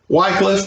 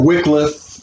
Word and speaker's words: Wycliffe: Wycliffe, or Wycliffe, is pronounced by some people. You can take your pick.